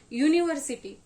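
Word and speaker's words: university: याच प्रोनन्सिएशन करणार आहोत तर त्यावेळेस याच रीडिंग आणि प्रोनन्सशन काय स्टार्ट होणार आहे य काय सुरू होतय आपलं य युनिव्हर्सिटी काय म्हणतोय आपण याला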